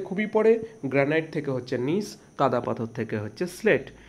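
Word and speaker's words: gneiss: Granite থেকে হয় নিস। ঠিক আছে, নিসটা দেখো, গুলিয়ে ফেলবে না, GNISS। ঠিক আছে, জি দিয়ে শুরু হয়, জি এর উচ্চারণ হয় না, নিস। ঠিক আছে, নিস বা নাইসও বলা হয়।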